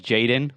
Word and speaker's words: jxdn: my third one is jaden but it's spelled like jxdn he's like a like